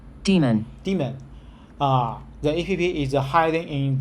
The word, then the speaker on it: daemon: the lunch then uh how to say then Daemon demon demon the EPV is hiding in the launched demon